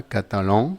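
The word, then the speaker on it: catalan: Bien, vamos a empezar con el catalán, que en francés se pronunciaría catalón. solamente le quitamos el acento del español y sería con esa an nasal típica del francés, catalón.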